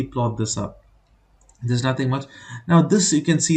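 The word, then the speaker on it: μ: middle one is given this symbol is Mu mu okay but it's pronounced as Mu it's a Greek alphabet even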